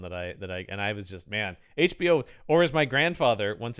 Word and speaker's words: HBO: Yeah, that was the '90s one that I was just, man, HBO, or as my grandfather once. I think I've talked about other pronunciations of his. For some reason, he would call it Hebo.